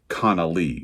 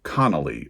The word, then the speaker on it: Connolly: Again, pronounced Connolly, not Connolly, like the last name.